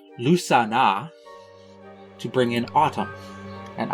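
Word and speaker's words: Lughnasadh: Bridget's Day, to bring in spring, Beltane to bring in summer, and something really complicated looking that is apparently pronounced Lusana to bring in autumn.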